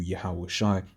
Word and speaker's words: Yahweh Shai: So we'll say Yahweh Shai Mashiach, Yahweh Shai being the real name of whom the world ignorantly calls Jesus. Right? That's how you'd say his name in the Hebrew, Yahweh Shai.